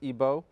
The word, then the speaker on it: Igbo: comes from Nigeria from the Igbo tribe otherwise pronounced IBO and Remy's a scholar